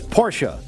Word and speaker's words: Porsche: he just has informed me that I am pronouncing Porsche wrong. He said it's Porsche.